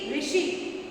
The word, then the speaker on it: ऋषि: इसको जब पढ़ते हैं, इसका उच्चारण करते हैं तो ये आता है, रा नहीं आता। जब हम ऋषि बोलते हैं ना तो इसका उच्चारण क्या होता है? ऋषि, है ना?